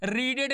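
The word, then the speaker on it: read: देखो इसका स्पेलिंग वही होता है, लेकिन इसका जब प्रोनाउंसिएशन होता है पास्ट में या परफेक्ट पार्टिसिपल में, ये रेड पढ़ा जाता है ना।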